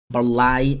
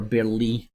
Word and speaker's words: Burleigh: I've just not heard anybody say the right pronunciation, so I'm unsure, but I'm sure it's Lee.